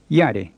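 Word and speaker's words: ရတယ်: to be all right if you don't make the ya in yada short and creaky it'll sound like a normal high tone yada which would make it mean i've got an itch so that's another distinction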